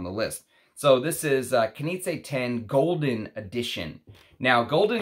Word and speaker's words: Knize: Someone left me a message saying it's Knize, that the Z is said like a J.